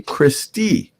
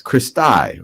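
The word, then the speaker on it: cristae: one of them you would call that a christie christie sometimes i've seen the pronunciation of this is christai christai or christie that's plural for crista and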